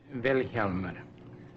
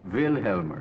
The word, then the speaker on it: Vilhjálmur: Vilhjálmur. The accent's on the first syllable. Vilhjálmur.